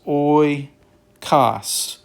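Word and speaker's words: οἶκος: Here it is oikos. Oikos. Again, the stress is put over the syllable.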